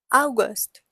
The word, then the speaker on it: August: So, spelling is again the same, but it's pronounced as August. August.